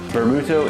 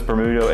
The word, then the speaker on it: Bermutto: Bermutto is just vermouth phonetically sounded out for Japanese, and I'm really excited